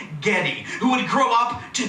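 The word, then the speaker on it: Geddy: Gary Lee wiin rib whose yish grandmother pronounced his name Getty who would grow up to be Getty Lee the best best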